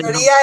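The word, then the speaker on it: ιστορία: Historia es historia en griego. Ah, mira, Va ¿ves? sin H y con acento en la última I.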